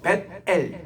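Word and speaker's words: 벧엘: 우리가 베델 할 때도 보면 베델 이렇게 하지 말고 벳엘 이 발음이 맞고 벳세메스 할 때는 벳세메스 벳을 띄어서 읽어야 됩니다.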